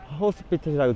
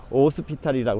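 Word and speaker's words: Hospital: 지금 여기 지나는 게 여기 호스피틀이라고 되어 있죠. 이 동네는 H가 묵음이거든요. 그래서 오스피탈이라고 그러는데, 오스피탈 델 말하고 되어 있는데, 바다에 있는 병원, 그런 뜻입니다.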